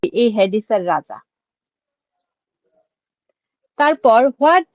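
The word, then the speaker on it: Hades: ওকে তারপর হয়াট হডি। এখানে কিন্তু হবে না। উচ্চারণটা হেডিস কি ইন গ্রিক মিথোলজি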